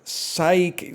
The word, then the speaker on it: psyche: Psyche. Silent letter at the start.